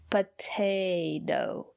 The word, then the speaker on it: potato: Potato. And the second letter T is pronounced as a fast D. Potato. Because the syllable after the second letter T is not stressed.